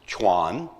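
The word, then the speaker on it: 船: It's pronounced chuan. And the character chuan is made up of three separate characters and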